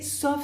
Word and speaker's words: sauf: L'autre structure, c'est sauf si, salvo si, sauf. Ahí si pronunciamos la F.